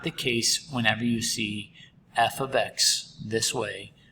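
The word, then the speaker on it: f(x): heads of a heads up uh it's it's pronounced f of x and i know it's super confusing because you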